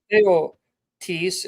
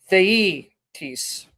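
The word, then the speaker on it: θειότης: It's not Yeah. theotis, it's theetis. Romans Okay. 1:20, right? Yes. Theetis. I'm trying to pronounce it like the Greek speakers would. Theetis as opposed to theotis.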